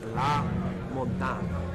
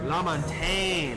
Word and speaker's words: La Montagne: Oh, I was just informed that it's La Montagne is how you pronounce. Is that correct? La Montagne. La Montagne is how you pronounce this last guy's name.